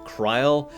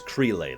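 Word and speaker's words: Krile: three major pronunciations of creel which is what I say I've heard kry and Kay and I guess cray those are the four excuse me major pronunciations I have heard of her name k r i l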